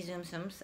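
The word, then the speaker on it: Tsum Tsum: I don't have any Zoom Zooms. I haven't collected any. TSUM is Zoom Zoom, is what I've always heard it pronounced.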